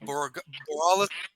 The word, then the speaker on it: Borealis: And then what we didn't realize was that, and I'm going to butcher the name, that Regional Aurelius game. Borealis.